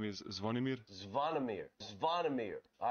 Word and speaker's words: Zvonimir: Pronounce just your first name. So my first name is Zvonimir. Zvonimir. Zvonimir. All right, say it with me. Zvonimir.